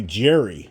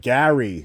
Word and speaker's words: Gary: of my hearing so the way I pronounce my name people think I say Jerry Jerry because it's like Gary or you know so that's when I say my name a lot of you will say hey Jerry so it's all good